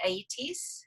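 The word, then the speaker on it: Aeëtes: the beginning Circe's brother, and I'm going to mispronounce this probably, Aeetes.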